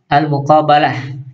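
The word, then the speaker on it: المقابلة: Kemudian berikutnya adalah al-muqabalah, ya, dibaca dengan fathah ba, ya.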